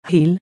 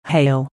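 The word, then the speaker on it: hele: The word hell should, in my opinion, be pronounced heel, not hail. The use of hail is due to the fact that in the 18th century the words conceal and reveal were pronounced concale and revel. Since the words obviously were a jingle, I consider it is more correct today to pronounce it heel.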